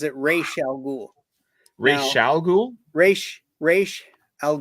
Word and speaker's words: Ra's al Ghul: And Sean Connery calls him Ra's al Ghul. Ra's al Ghul. Ra's al Ghul. At least the last time they asked him, that's what he said. Yeah. That's how he Um, pronounces it.